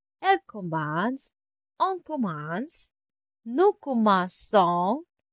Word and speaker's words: commençons: Je commence, tu commences, il commence, elle commence, on commence, nous commençons. Si se dit, to keep the soft C.